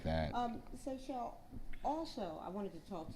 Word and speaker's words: Seychelle: And my name is Seychelle, and so if you need me to spell that for you, that's S as in Sam, EYCHELLE.